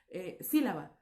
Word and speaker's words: sílaba: Por ejemplo, sílaba, sílaba, ¿ok? Sílaba, sílaba. Tenemos el sonido más fuerte en la primera sílaba de sílaba, que es la separación sí, ¿ok?